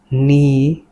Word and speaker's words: knee: Knee k n e. Knee is silent or na.